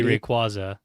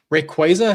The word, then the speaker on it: Rayquaza: and we're like, it will always be Rayquaza. I don't care what anybody say. I know. I know. I will say Rayquaza has kind of like lost its like uh